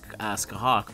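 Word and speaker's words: Scáthach: i'll gladly say it someone taught me how to do this ask a hawk but i don't think i ever asked for dear mute and theon um i already have skahak at np2 so really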